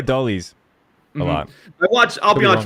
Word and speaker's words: Adolis: Adolis? Adolis. Adolis? They say Adolis on the broadcast. Yeah, see, I watch it muted. I'm just kidding, guys. I actually do that a lot. They do say Adolis a lot.